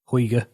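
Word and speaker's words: hygge: the little book of huyga which is spelled h-y-g-g-e so if you're danish and shouting at the podcast right now i apologize for my terrible pronunciation now this idea sounds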